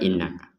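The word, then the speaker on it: إنك: jadi digabungkan langsung ke innaka ada Nun bertasdid kita dengungkan ya kemudian di sini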